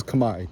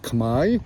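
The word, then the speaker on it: Khmer: or Chinese or Vietnamese whatever right everyone is kami k h m e r it's it's spelled kamarl like kamar rouge but it's pronounced kami which just like sounds much better on the ears.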